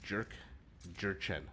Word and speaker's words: Jurchen: You pronounce Jurchen right? Jurchen.